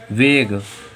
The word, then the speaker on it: vague: शब्द के अंत में GUE आ रहा तो हम लोगों का UE साइलेंट हो जाएगा। इसे क्या पढ़ेंगे? वेग, इसे क्या पढ़ेंगे?